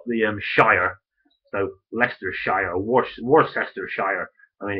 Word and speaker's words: Worcestershire: Pronouncing anything humorously. I mean, okay, so you've got the Shire, so Leicestershire or Worcestershire.